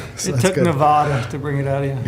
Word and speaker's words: Nevada: Nevada. Please say it right. Nevada.